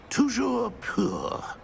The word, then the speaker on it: Toujours pur: And, of course, as Master knows, in French.